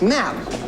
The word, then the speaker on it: ma'am: After the first, Your Highness, it's ma'am, you see, to rhyme with span. Sir? What? Rather than smart. What? To rhyme with, sir. Man, not ma.